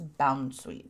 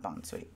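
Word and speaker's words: Bounsweet: another naked bond sweet i feel like that's bound sweet not bone sweet but that could just be me it's all pokemon just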